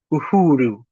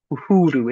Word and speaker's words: Uhuru: Looks like the U, but it never says uh never says U says ooh. Uhuru. Uhuru. It always says ooh.